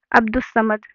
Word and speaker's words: عبدالصمد: ایسے ہی عبدالستار الف اور لام کہیں پہ پروننسیشن یعنی اچارن یعنی کہ تلفظ میں کہیں بھی الف لام کو نہیں پڑھا گیا. عبدالستار. زیب النساء. عبدالصمد.